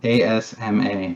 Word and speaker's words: asthma: word as asthma yeah asthma like a zma but it's a-s-t-h-m-a is that i feel like something's wrong there it's just asthma asma that's how it's pronounced i'm going to be